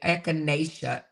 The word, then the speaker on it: Echinacea: It's spelled ECHINECEA. Enunciation. Echinacea. Echinacea. Echinacea. Echinacea. Echinacea. Okay. Echinacea is how you say echinacea.